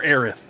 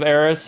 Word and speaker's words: Aerith: You produced it in this country, therefore it has to be pronounced like in this country. Like, is it Eris or Aerith?